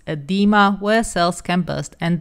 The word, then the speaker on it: edema: disease such as, and apparently I've been pronouncing this wrong in the past, so it's edema, where cells can burst and die.